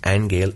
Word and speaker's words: Aingeal: I'll spell it because it's the beautiful name for the angel in Irish it's angale a i n g